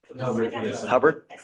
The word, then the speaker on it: Hubbard: Hubbard?